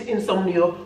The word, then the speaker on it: insomnio: But remember, in English it's insomnia with the A, and in Spanish it's insomnio with a O.